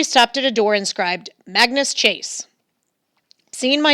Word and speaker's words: Magnus: annoying name to have people tended to spell it Mingus which rhymes with Angus I always corrected them no it's Magnus rhymes with swag ness at which point they